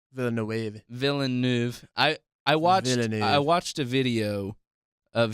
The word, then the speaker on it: Villeneuve: There's not like Denis Villeneuve. There's no A at the end. Okay. It's an E at the end, right? Right. Villeneuve.